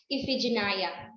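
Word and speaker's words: Iphigenia: spectacular mr bernie sanders it is um pronounced as ephigenia yes it is pronounced as ifyginaya okay so without further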